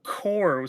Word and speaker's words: Corps: It's like it's a silent P, my brother. C U P is coup. It's kind of like the word core. C O R P. It's there's a silent P there, my friend.